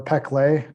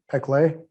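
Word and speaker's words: Péclet: called the peclet number p uh e peclet depending if you're french or not uh oh you spell that p p e c l e t p clay so the peclet number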